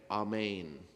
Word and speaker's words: amen: know what it is it sounds like this in Aramaic amain is the proper pronunciation of amen and it means I